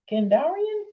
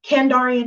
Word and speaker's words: Kandarian: the necronomicon but two candarian candarian daggers i always say it wrong kandarian daggers like seriously this